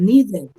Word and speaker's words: needed: Needed, porque ese final va a tener el sonido de id, ¿cierto?